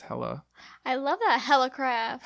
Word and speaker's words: Helle: Helle, like it's spelled Helle, but she's Danish. It's Helle.